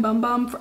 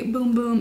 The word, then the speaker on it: Bum Bum: boom boom scent i always i keep saying bum bum i for will forever say bum bum because i just do but i know it is technically boom boom is how it's pronounced and it is um